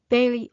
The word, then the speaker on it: ve: So very often we add the letter e and the preposition is pronounced ve.